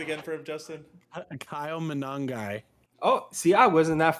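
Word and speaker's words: Monangai: Managawe. Say it again for him, Justin. Kyle Manangai.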